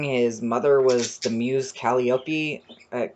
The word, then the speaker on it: Calliope: a human king his mother was the muse calliope at calliope i think it's pronounced so he had a bit of a